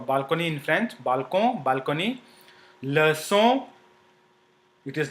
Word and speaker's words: leçon: Leçon, it is not pronounced, you see, it is not pronounced le con, but leçon, because there is a cédille below c.